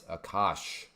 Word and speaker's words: Akash: You aren't pronouncing it right. Akash? Well, how am I supposed to pronounce it? It's Akash. Akash.